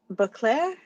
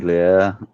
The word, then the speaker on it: Baudelaire: He's got that same passion like how Leslie and I were talking, unable to believe that uh Beauclair, I think it was, say the name wrong. Baudelaire, Baudelaire, thank you.